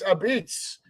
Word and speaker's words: apizza: Those of you that don't know, in New Haven, Connecticut, that is how we spell it. Apizza, and we pronounce it Abits.